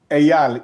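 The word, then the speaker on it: Eyal: Ayal. E. Aal. Yeah, exactly. What's your question? How to pronounce?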